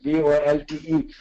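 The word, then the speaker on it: VoLTE: through a tech technology called volt v o LTE or volt depending on how you want to pronounce it so going forward that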